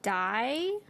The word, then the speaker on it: Dai: dai it's really good of die yeah that's how they pronounce it d-a-i oh okay i was